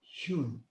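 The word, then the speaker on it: youn: Maintenant, à l'inspire, après l'inspire, nous allons prononcer à l'expire le son yun, Y-O-U-N. Yun.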